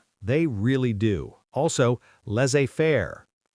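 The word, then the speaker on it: laissez-faire: Also, less afair. Leafair. Economics term. Lots of silent letters there.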